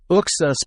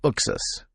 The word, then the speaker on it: Uxas: Oh, they said Uxus being the pronunciation used by comic creator Jim Lee. So Uxus.